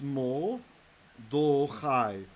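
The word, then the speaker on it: מָרְדֳּכַי: So it's mo, do chai, mo do chai.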